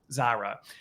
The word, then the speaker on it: Zara: have though that that zaha brought brought up sorry if I I mispronounce it but um Zara is okay okay there you go I did get it right um is she brought